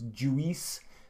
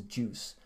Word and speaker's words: juice: my list is juice so when Finns say the word juice I often try to make it two syllables they often try to say that you and the I in the Finnish way so it's Jewess but that's wrong so the word is juice and again I'll just